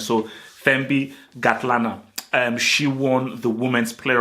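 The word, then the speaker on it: Thembi Kgatlana: Shout out to Thembi Gatlana. I believe, again, South Africans, correct me if I'm wrong, but I believe the K is silent. So Thembi Gatlana.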